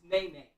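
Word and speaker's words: Nye: Like N-A-E? N-Y-E. Make it even more, even more like, wow, the parents really want to be special. That's nine. But it's pronounced nay.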